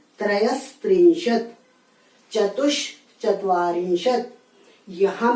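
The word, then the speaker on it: त्रयस्त्रिंशत्: इसमें आपको दंत्य स का उच्चारण करना है। त्रयस त्रिंशत, चतुष चत्वारिंशत।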